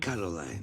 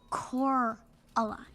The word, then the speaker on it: Coraline: of day, let alone even know how to pronounce her name. Caroline. Caroline. Caroline. Caroline. Caroline. Caroline. Caroline. Coraline.